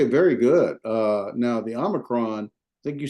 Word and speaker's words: Omicron: good uh now the Omicron I think you said Omron I I normally put it with a short o Omicron Omicron okay so not Omicron